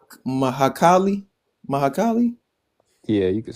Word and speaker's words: Mahakali: get it I get it uh M mahakali mahakali yeah you could say that how do how